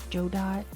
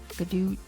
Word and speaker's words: Godot: I mean, they did say, the Godot Foundation did say that all the pronunciations of Godot, so you can do, they're all canons. You can do Joe Dot, Gadoot, they're all in there.